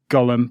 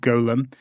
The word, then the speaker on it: Golem: call called the Golem Golem is different in pronunciation from Gollum AKA smeagle from Lord of the Rings so I'll try not to pronounce it Gollum but Golem but Golem is as